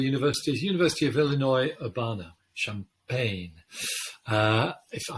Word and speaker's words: Champaign: university of illinois urbana champaign uh if i hope i'm pronouncing that correctly uh champagne yeah i think you've got that yeah that's different spelling though oh okay it's the